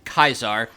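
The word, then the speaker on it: Caesar: to his former Master by the Latin pronunciation kaisar but he doesn't see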